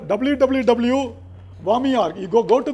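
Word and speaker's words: WAME: wami it is called I mean it is pronounced as wami w m World associate of medical editors sir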